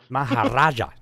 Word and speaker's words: Maharaja: You can't even say it right. You're right, because I hate him. Maharaja. You gotta roll your R's.